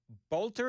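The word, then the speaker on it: Boelter: Bolter, is that the official pronunciation?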